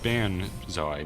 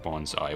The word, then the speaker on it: banzai: Banzai, not bonsai, which is, you know, a term used by...